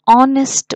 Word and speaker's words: honest: to make it clear h is silent here we pronounce the word